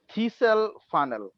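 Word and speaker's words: thistle funnel: এই না পেপেট না, এই ডিভাইসটার নাম নাম জেনে রাখো, থিসেল ফানেল। থিসেল ও আচ্ছা থিসেল ফানেল, মাঝখানে টিটা সাইলেন্ট থাকবে।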